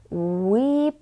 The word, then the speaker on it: Ł: a letter l l we pronounce it as W like English W in a word water for example polish examples wat W